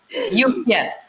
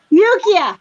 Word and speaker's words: Yukia: Yukia. Yukia. I know I say it like 3 or 4 different ways. Yukia.